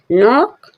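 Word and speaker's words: knock: नॉट not means गांठ नोक नोक मींस खटखटाना यहां पर भी के साइलेंट है एन से पहले के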